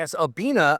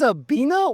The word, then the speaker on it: Abbina: So, a A B I N A and it is the There we go. It's the Italian word for to pair or to match.